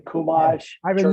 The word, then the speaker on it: Chumash: Chumash, I've been church mosh.